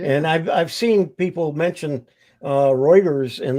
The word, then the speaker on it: Reuters: And I've seen people mention Reuters, and they pronounce it Reuters, but it is Reuters.